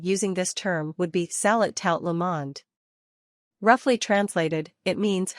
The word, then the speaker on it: salut: literal translation is good day the word is pronounced Bon zor three say salad for an informal greeting the tea is silent